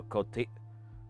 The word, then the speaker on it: cotija: All right, I wasn't even remotely close to the correct pronunciation. And to the rest of the world, my bad. So let's try that again. Cotija. Cotija. That makes sense with the letters in order that they are.